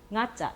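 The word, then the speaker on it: ང: 자, 그 다음에 nga자, 이 발음하기가 어렸던 nga자는 혀를 여기다 붙였다가 떨어뜨리면서 강아지 할 때 nga자죠.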